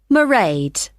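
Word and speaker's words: Mairéad: you'll see my assistant merade sorry how do you spell that it's m a i r e a d marade okay got that it's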